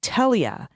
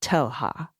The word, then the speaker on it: Telha: Gustavo Ribeiro Telha should be pronounced with a hard English H. It sounds like Telia, not Telha.